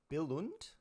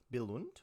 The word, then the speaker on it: Billund: you happy saying seeing is it billund belund or belund I'm probably mispronouncing it mispronouncing it this is where I need chat to pull me up um okay so yeah you know what let's rate these out of like let's rate these out of ten right you don't really pronounce the d so it's uh why